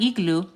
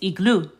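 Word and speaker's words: iglú: So you'll notice that there is an accent mark over the U, and it's common known in the Spanish language that when you see an accent mark, you add emphasis.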